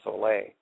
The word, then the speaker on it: Sole: make a product called Soleil. It's spelled S-O-L-E, but pronounced S-O-L-A-Y, Soleil.